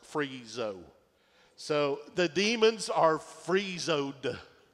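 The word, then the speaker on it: phrisso: P-H-R-I-S-S-O is pronounced freezo.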